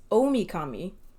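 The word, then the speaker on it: Ōmikami: about this whole time, uses the same kanji, big or great, and deity. But it's pronounced differently. So it's the same kanji, but it's pronounced differently. It's Omikami, if that means any significance to you.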